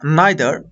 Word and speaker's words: neither: আমরা এই ধরনের এক্সপ্রেশনগুলো প্রকাশ করার জন্য সো, অক্সিলারি ভার্ব, সাবজেক্ট বা নাইদার অথবা নিদার, এটাকে নিদার বা নাইদার দুইভাবে উচ্চারণ করা যায়।